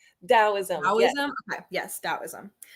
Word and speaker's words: Taoism: And oh gosh, I was mispronouncing it before, but it's Daoism. Taoism, yes.